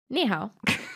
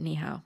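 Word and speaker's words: 你好: the same in madid oh there you go niho welcome to red-handed only took us 10 minutes only took us 10 minutes of Googling uh to remember that niow is how you say hello so hello hello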